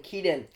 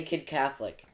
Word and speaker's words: Keaton: they say my name instead of saying Keaton they say kid Catholic so if you're watching